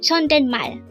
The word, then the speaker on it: 존댓말: 369 again Chen this is pronounced as a three syllable word the first syllable is